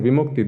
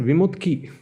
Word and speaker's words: Vimukti: And instead of saying Vimukti, they always said Vimutki. It would drive me up the wall. So I said, no, it's Vimukti. Okay, can you spell it for me? They'd say. I say, yeah, it's Vimukthi. Vimutki.